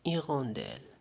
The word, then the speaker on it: hirondelle: donc 2 + 1 2 + L se prononce d'elle une iron d'elle une hirondelle pour la deuxième image une tigresse une tigresse